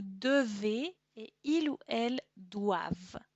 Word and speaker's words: doivent: et il ou elle doivent. Attention à la prononciation, doit, devons avec le E, devez et le pluriel doivent, porque no se pronuncia jamás la ENT.